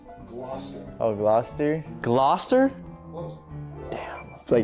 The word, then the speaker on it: Gloucester: It is pronounced Gloucester.